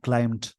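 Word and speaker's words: climb: इट हैड क्लाइम्ड, क्लाइम मतलब बढ़ना, यहाँ पे ऊपर चढ़ना होता है। इसको क्लाइंब नहीं बोलते, बी साइलेंट होता है, क्लाइम, क्लाइम्ड सेकेंड फॉर्म है।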